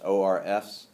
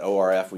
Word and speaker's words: ORF: remember that term ORS o RFS yeah you probably pronounce it o RF usually we don't pronounce the letters we just say ORS